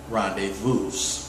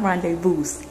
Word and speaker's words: rendezvous: And right now, we're on our 2-year anniversary rendezvous. Behind the camera is my lovely queen. It's not rendezvous. Huh? Go. It's what? It's not rendezvous.